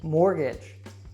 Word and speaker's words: mortgage: Now, this one is tricky because it is not pronounced like the word age. So listen carefully and make sure that you don't mispronounce this one. Mortgage, sabotage, marriage.